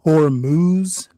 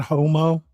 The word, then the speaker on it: Hormuz: I think he meant hormuz, not homo.